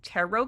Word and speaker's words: tarot: Although, I'm pretty sure that these tarot cards, I think that's how you say it. Tarot, even though it's spelled like terret.